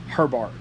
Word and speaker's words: Herbart: The next one, this person, Herbart, maybe is how you say that. They were and it's Johann. Let me make sure I'm saying that right. Yeah, Johann Herbart.